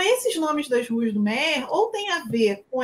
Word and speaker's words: Méier: Perdeu a sonoridade alemã, que seria Meyer, né? E ficou sendo Meyer mesmo, e aí precisa do acento para poder fazer a ortografia correta, né, na pronúncia.